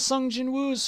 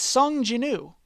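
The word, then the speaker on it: Sung Jinwoo: Wait, that's one of Sun Jin Wu's familiars. Sun Jinu. I keep pronouncing the W. It's Sunjanu.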